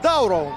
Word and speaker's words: Дауров: Но Руслана все-таки будем называть Дауров. Ударение на «да», чтобы он не обижался на нас, на комментаторов.